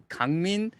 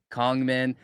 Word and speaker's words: Kangmin: Pronunciation is Kangmin, and then so the closest English pronunciation is gonna be Kongmin, but it's spelled Kangmin. Like you look at it, you say, "Oh, Kang," right?